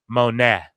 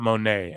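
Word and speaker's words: Moné: so her name if it's spelled that way is Mercedes Monet not Monae and I don't know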